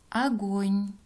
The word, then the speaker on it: огонь: поэтому произносим как а огонь здесь у безударное главное поэтому произносим как а окна здесь а вначале